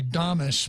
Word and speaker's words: Dames: I think it's appropriately Damas, but I think she pronounces it. I think she pronounces it Dames because it sounds a lot nicer.